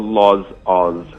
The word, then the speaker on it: Lozaus: It's called Lozaus. So that's spelled Lozaus1. It's a weird name, but the way it came across is Loz, as in my name, Yes. yeah. Oz, as in Australia.